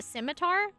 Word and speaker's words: scimitar: hi beo beo good you don't pronounce the C yeah oh in the it's a scimitar ah skar what yeah